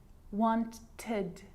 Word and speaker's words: wanted: So you can hear the ed sound there. Id, wanted. It's its own syllable.